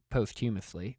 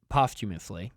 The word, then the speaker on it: posthumously: Yeah, and I don't know if you guys knew this, but Jim Bowie was actually inducted posthumously, of course. Posthumously. Did I put the emphasis on the wrong syllable there?